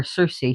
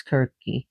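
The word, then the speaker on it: Circe: the prophecies of Kirk, which people call her Cersei here, but she's pronounced Kirk in in Greek, K I R K. So we spell her C I R C, but it's Kirk.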